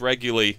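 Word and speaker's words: Reguli: And it's pronounced regularly, just so everybody knows, Connie regularly.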